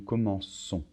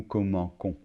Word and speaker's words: commençons: Je commence, tu commences, il commence, nous commençons. Attention, on doit rajouter une cédille. Sinon, ça ferait nous commençons. D'accord? Donc nous commençons, vous commencez, il commence.